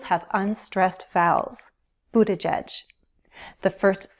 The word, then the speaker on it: Buttigieg: There are 3 syllables, Buttigieg, stress on the first, which means the other 2 syllables have unstressed vowels, Buttigieg.